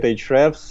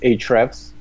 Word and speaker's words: Ahrefs: This is a great question, and the way we like to pronounce it here is Ahrefs. Ahrefs, okay. Yeah, but I think that the correct one would be Ahrefs, like the way you spell it. But we call it Ahrefs, and in all our videos we use Ahrefs, and we try to teach people to do it this way.